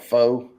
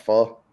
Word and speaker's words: pho: we talked about before the people call it foe it's uh but it's pronounced fall and there's restaurants like there's one in philadelphia